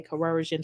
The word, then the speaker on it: coercion: Let me get up this because I cannot say coercion to save my life. So give me a second because I don't like when I can't pronounce words. I keep saying corrosion. Let me get my little. Because I don't like that. Let me get my little pronunciation up here because this word is getting on my damn nerves. All right, we about to pronounce this word because I keep saying it wrong.